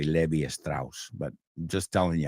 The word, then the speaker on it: Levi Strauss: I know you say Levi Strauss, but just telling you how we say Levi Strauss.